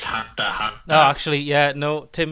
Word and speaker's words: Hunter x Hunter: Is actually, you don't pronounce the X. Oh, so. You're not getting monetized for this video now. You've mentioned wow. Kiss X. I mean, I've not seen Hunter Hunter.